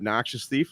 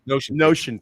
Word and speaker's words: Notion Thief: Noxious Thief, am I saying it correctly? Yeah, the Notion. I'm not Thief, sure, to be yeah. honest. Notion Thief.